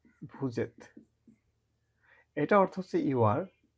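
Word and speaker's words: vous êtes: এটা উচ্চারণ হবে এত, আর এটা হচ্ছে ভু। যখন একসাথে উচ্চারণ হয় ভুজেত।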